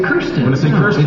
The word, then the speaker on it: Kirsten: look at it you want to say Kirsten it's like a cure one of my favorite